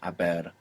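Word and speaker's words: haber: And of course, we have the silent h there in abber. Abber is to have in the sense of I have eaten.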